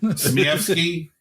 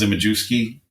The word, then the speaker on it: Zmievsky: So, besides Adrian, Zmievsky, which most people pronounce Zimajewski.